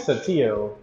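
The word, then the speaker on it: Saltillo: This is the, how do you pronounce that word again? Satillo.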